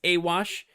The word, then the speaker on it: Awosch: so i'll introduce myself my name is awash uh yeah that's if that's not how you expect to pronounce it now you know it's a little bit